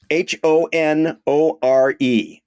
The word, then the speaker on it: Honore: it is ding ding ding wow here's one h o n o r e this is another Street wow well I would pronounce it normally Honore um you would be